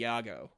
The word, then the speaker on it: Yago: uh Felicity you know he's still pronouncing it wrong it should be Yago but he just doesn't